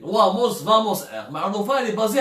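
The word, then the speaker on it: Wamos Air: une compagnie espagnole اسمها Vamos Air. Ça s'écrit avec W mais ça se prononce V. Vamos Air.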